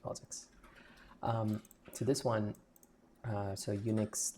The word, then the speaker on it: POSIX: So it's pronounced POSIX.